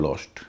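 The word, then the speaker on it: lost: सीओ एसटी और एल ओ एसटी कोस्ट और लॉस्ट इसमें कोस्ट और लस्ट नहीं होगा कॉस्ट और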